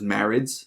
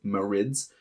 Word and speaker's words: Marid: do is Marin's I always thought it was marriage like Marine uh this is the water ones but apparently it's pronounced Moritz uh sometimes pluralized as just the marit in